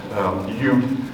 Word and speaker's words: Ute: The Y gets dropped, and usually it's pronounced Ute with no S on the end for either plural or singular or referring to the nation.